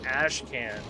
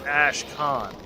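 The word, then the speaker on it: Ashkhan: But anyway, I usually don't care, but I kept saying Ash can. I'm pretty sure it's Ash Khan.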